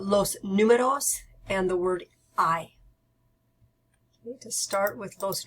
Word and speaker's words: hay: to learn those numbers I'm gonna start with the word I I remember the H is silent the a and I together make an I sound so I it means